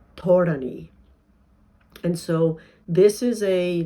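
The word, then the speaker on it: ธรณี: And it's pronounced in the Thai tradition, where this narrative really is very active and very much represented visually as well. It's pronounced Thorani.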